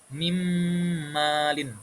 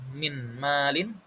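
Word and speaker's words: مِن مَّالٍ: Nah, di sini yang kedua contohnya bertemu dengan mim ee mimmalin. Mimmalin. Jadi, kita tidak membacanya minim. Jadi, masuk disertai dengan dengung.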